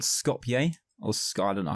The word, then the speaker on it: Skopje: Its capital city is called Skopje, or I don't know how you pronounce it.